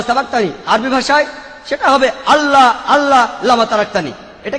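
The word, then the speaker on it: الله: সর্বশক্তিমান ঈশ্বরের একটা নাম হলো আল্লাহ, লেখা হয় ILA, কিন্তু উচ্চারণের সময় শব্দটাকে বলা হয় আল্লাহ।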